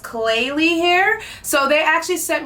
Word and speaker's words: Klaiyi: So I don't want to chop the name up, but I believe the name of the company is pronounced Klaiyi hair.